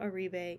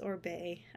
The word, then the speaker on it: Oribe: Especially in their curly range, or it's not Oribe, it's Orbe. I never say it right.